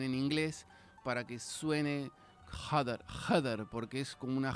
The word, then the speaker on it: Jedr: Bueno, pero porque Heder se escribe J-E-D-R y yo pensé que me decía Heather tipo en inglés.